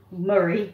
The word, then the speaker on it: Moray: Right, I will say Moray Food Bank, where I live in Moray, Murray as they call it, but it's spelled Moray.